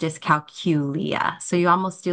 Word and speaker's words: dyscalculia: it is pronounced as calula so you almost do like a little Q or a cou in there uh when you're saying it so with the emphasis on that middle syllable and it's that is